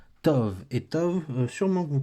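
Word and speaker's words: טוב: qui le bête mais le bête n'a pas de daguesse donc vu qu'il n'a pas de daguette ça se prononce dove Tov et Tov sûrement que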